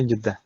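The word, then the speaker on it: جدة: Dibacanya Juddah. Gitu ya. Mau sebabnya penamaannya bagaimana? Iya, Tapi orang-orang bilangnya Juddah.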